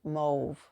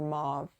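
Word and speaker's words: mauve: in this top is called mve or Mau depending how you pronounce it m Au u v e okay so this is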